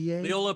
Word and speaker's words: Leola: And Bill, help me out with the pronunciation here. Is this Leola, PA? Leola, Pennsylvania, in Lancaster County, Pennsylvania.